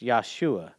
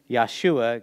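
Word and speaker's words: ישוע: and the english but if we were pronouncing it in in hebrew it would be yeshua god saves now why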